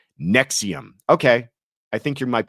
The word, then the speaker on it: NXIVM: I believe it's pronounced Nexium. Okay. I think you might be right. Nexium. NXIVM. Nexium. The Nexium. The V is a U.